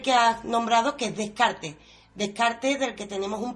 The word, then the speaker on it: Descartes: partiendo del mismo René Descartes, o René Descartes, si lo queremos decir en francés, nos tenéis que permitir